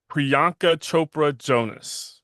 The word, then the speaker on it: Priyanka Chopra Jonas: How do you pronounce her name? Is it Priyanka Chopra Jonas.